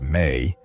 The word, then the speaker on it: me: The me pronounced may were described as sacred